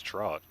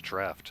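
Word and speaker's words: draught: See, I always thought it was drought. I guess I didn't realize it was draft. So if it's draft, why don't they spell it draft, man?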